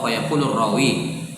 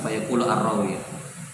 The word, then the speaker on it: فيقول الراوي: الراوي Oh, fayaqulu rawi. Nah, jangan deh. أجازني Antum terpisah fayaqulu ar-rawi. فيقول الراوي Disambung bacanya. Fayaqulu ar-rawi.